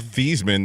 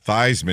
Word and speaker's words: Theismann: And Thiesman, they went to Theismann to rhyme with Heisman.